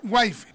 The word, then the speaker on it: Whitefield: ya George whitefield ya se escribe ji ya pero se pronuncia George wfi y bueno George wfi